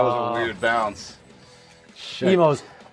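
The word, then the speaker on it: Imo's: Emo's, IMO is Oh. how it's spelled.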